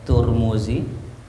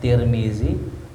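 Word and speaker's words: Tirmidhi: Abu Isa at-tirmidzi ya boleh dibaca turmuzi boleh dibaca Tirmidzi boleh dibaca tarmizzi tiga cara baca ya Jadi kalau ada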